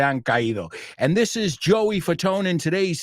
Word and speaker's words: Fatone: And number 3, Joey Fatone. Pero si separas Fatone, it's fat one. So it's not pronounced Joey Fat One or Joey Fatone, as the Italians would, but it's Joey Fatone, americanizado.